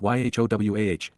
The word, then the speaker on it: Yahowah: The fact that God's name is pronounced YHOWAH, that the set-apart spirit is feminine, that Torah